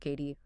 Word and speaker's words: Cady: Thanks for joining us on this deep dive into HM Emily Caddy, pronounced KD.